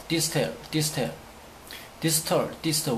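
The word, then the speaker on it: distal: 김차와 관련된 것은 디스탈, 디스텔, 디스텔, 디스털, 디스터. 원래 발음은 디스탈이 아니죠.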